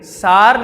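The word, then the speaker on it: Tsar: Spelling क्या है? T silent है, सार निकोलस।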